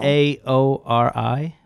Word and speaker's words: Maori: It's a ceremonial dance or challenge in the, I can't pronounce this word, but it's an Australian culture. Okay, Nate's people. M-A-O-R-I. Maori.